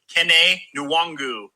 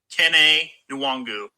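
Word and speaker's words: Kene Nwangwu: Hey, boys, let me help you out on a little pronunciation of the Iowa State player. His name is Kene Nwangu. Kene Nwangu.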